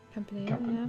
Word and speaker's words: Campanile: How about trying to pronounce the word underneath belfry/bell tower on the bottom row? The word where? Oh. Campanile? Campanile, yeah.